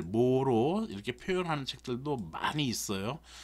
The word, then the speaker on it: MHO: 요거를 어떻게 읽냐면 오음은 OHM이죠. 얘를 거꾸로 쓰면 MHO라고 해서 모라고 읽어요. 그래서 모로 읽는다라는 겁니다. 등값 그래서 요렇게 직류 전원과